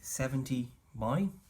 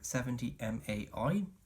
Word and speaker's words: 70mai: there you have it the 70 my or 70 mai depending on how you pronounce it now obviously this